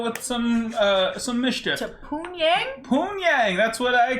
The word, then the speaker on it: Pyongyang: Pyongyang, that's what I call it. I can see someone pronouncing it like that. It's Pyongyang.